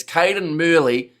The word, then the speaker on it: Cadan Murley: I'm butchered his name, but it's Murley down the wing. See, his name it's Cadan Murley and Canaan Moody that always get me.